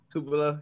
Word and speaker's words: Tupelo: Is that how you pronounce it? Tupelo, Mississippi? Tupelo.